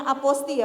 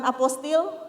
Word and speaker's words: apostille: Mungkin perlu kami ingatkan, informasikan di sini bahwa pengucapannya aposti ya Pak, bukan apostil atau apostile. Mohon izin Pak. Iya, karena ini banyak masyarakat yang salah kaprah dari penyebutan ini, karena memang aposti itu berasal dari bahasa Perancis.